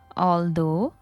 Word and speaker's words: although: මේ වචන තුනේම spellings GH වලින් ඉවර වුණත් pronounce කරනකොට GH එක silent. though, although, even though.